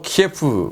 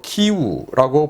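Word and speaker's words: Київ: 제가 오늘부터 여러분들의 그런 말씀을 들어서 수도 키예프, 우리가 그동안 키예프라고 불렀던 이 수도를 우크라이나 발음으로 키우라고 부르기로 했습니다.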